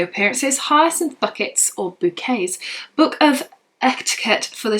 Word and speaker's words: Bucket: Bucket or Bouquet. It's spelled B-U-C-K-E-T, so it is spelled as bucket, but she says bouquet.